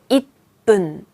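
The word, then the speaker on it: 一分: 그래서 잇, 훈은 너무 어려워요. 그래서 잇분, 잇분 이게 1분이고요.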